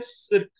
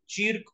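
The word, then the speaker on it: cirque: सिर्क. Alright, चीर्क और सिर्क, जिस तरीके से आप इसको प्रोनाउंस करना चाहें.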